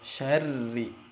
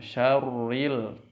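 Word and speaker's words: شَرِّ: Kalau tadi di ayat pertama tebal robbi, kalau di sini tipis syarri. Jadi ketika masuk ke tasydid itu posisi mulut kita seperti mengucapkan ro, seperti pengucapan tasydid ya.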